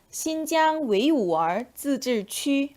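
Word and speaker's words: 新疆维吾尔自治区: 중국어로는 신장 웨이우얼 自治区 라고 읽습니다.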